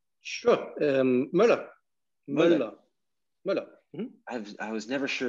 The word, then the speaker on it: Müller: Müller. Mm-hmm. I was never sure of the exact pronunciation of that.